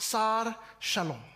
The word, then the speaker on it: Sar Shalom: them all is he in the Hebrew this name is pronounced SAR shalom shalom the Hebrew word